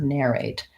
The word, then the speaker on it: narrate: like an R and it's an air narrate first syllable then we have narration second